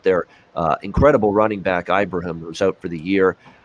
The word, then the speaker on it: Ibrahim: ibrahim for the season i got to stop calling him ibrahim it's ibrahim he wants it called pronounced like that leg injury for him